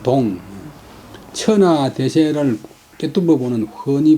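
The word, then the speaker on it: 洞: 무엇이 빗자의 보호가 통견 천하 대세지 달사가 아니겠소? 야자는 인문적으로 통은 개뚫물 통자인데 또 통견은 개뚫물 본다, 권이 본다. 개뚫다는 발음을 통, 골짜기 할 때는 발음을 동.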